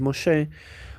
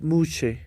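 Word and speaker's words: משה: Por ejemplo, Mosé o Moisés en hebreo es Mosé. ¿Por qué es Mosé y no es Muche o o Musó?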